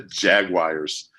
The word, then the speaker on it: Jaguars: Jaguar, which is the correct way to say it, but I just don't say it that way. Jaguar, like on the Jaguar. commercials. Yeah, it's like a 3-syllable thing, but yeah, they're not going to catch.